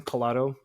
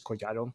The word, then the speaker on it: Collado: So my last name, Colado is how you say it in like English and all that stuff, but in Spanish is Coyato.